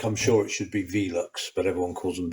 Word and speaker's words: Velux: you know like I'm sure it should be Velux but everyone calls them velox and officially these are actually ammo I think